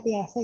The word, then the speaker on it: Piaget: Piaget, bacanya Piaget ya, jangan lupa ya.